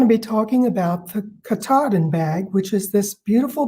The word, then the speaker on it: Katahdin: there is a mountain up there called mount katahdin and he knew exactly how to pronounce it so now we know that it's the katahdin bag this is the pattern it's 24 this